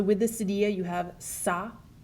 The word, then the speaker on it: ça: The cedilla, it only exists on a C, and what it does is changes the pronunciation from a hard C sound like a K to a soft C sound like an S.